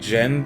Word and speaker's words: Zen: It's pronounced more like Jen than Zen.